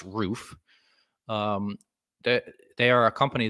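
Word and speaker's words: RUF: what a roof is and it is pronounced roof um they are a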